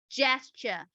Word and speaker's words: gesture: is not gacha but gesture so you can look at the pronunciation is the J sound instead of girl sound so gesture instead of